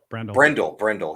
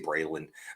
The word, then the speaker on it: Brendel: Brendel. Yeah, I was going to say Braylon, but Jake Brendel.